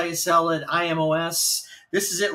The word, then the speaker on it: Imo's: pizza we got an Emo's frozen pizza I think it's pronounced emails it's i-m-o-s uh uh Imo's I'm sure it's Emos but Emos is usually spelled with an E like emo Phillips who is on the